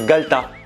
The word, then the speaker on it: galetas: ça s'écrit le galetas mais le E qui est au milieu, il le mange. C'est le galetas.